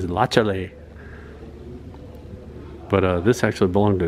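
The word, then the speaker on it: Latiolais: It's not latiolace, like some people might think. It's lachale.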